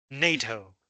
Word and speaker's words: NATO: You'll notice that I pronounced this one letter by letter, USA, but this one I said NATO. I didn't say NATO. I said NATO. This is, by the way, the North Atlantic Treaty Organization, 北大西洋公约组织. I can't spell. The rule is if you can pronounce it as a word, say it as a word.